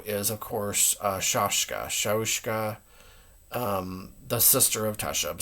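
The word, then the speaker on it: Shaushka: Um, but for right now, um, Shahushka, I I I believe that's how you pronounce it. It could be Shashka or, um, I I say both. I mean, I I I usually say sha shahushka. Shahushka, but it could be also just shashka.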